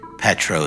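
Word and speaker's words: Petrow: Pro is spelled P E T R O W.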